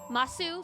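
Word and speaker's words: ます: Sometimes you hear them say desu and sometimes they just say des masu. Sometimes it's mas. It's ju it's just kind of like slurring a little bit.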